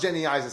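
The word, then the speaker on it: Genisys: It's pronounced Genysis.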